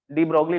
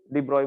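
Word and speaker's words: de Broglie: डी ब्रोगली लिखते हैं, लेकिन प्रोनाउंसिएशन इसका डिब्रॉय बोला जाता है।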